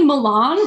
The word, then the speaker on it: Milan: I don't if you say Milan like you're wrong but you're right but you're wrong because you're throwing it doesn't work you're throwing off the verse while trying to be accurate to the current pronunciation of that City's name and try to tell